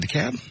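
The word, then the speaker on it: DeKalb: that the cops in daab county is it daab yeah count you don't pronounce the L George had a AR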